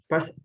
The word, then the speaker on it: passed: That's what we need to work. It's with T.